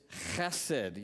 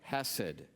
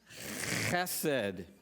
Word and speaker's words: חסד: It's a guttural, so do not say hesed. Okay? If you don't spit on the person in front of you, you've said it wrong. So it is chesed.